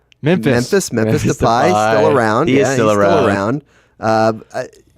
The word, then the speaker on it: Depay: I like that you're getting some good Dutch pronunciation. Depay. Memphis. Memphis. Memphis. Depay.